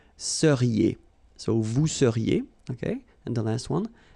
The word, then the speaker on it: seriez: So here when you've got this Z at the end, then you get the sound E, seriez.